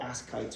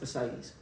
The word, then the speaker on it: ascites: spell ascites okay so don't call it ask kites or something like that it's ascites um yeah so you